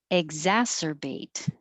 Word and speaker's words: exacerbate: that's my point schedule exacerbate exacerbate ah is the vowel stressed vowel ass open and keep the lips back 15 is wer so